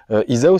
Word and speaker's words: Izaho: un petit peu exactement le haut se prononce où en malgache Isao ça veut dire moi